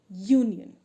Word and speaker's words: union: same way we have one more example a union now we will have here more examples so